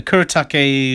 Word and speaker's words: Kuretake: this is a new thing I got a kuretake f gooi that's how you say it and